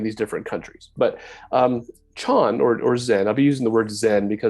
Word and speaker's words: Chan: right so the term gets shortened to just Chon in China in Korea the term is pronounced Something Like Son uh in Vietnam it's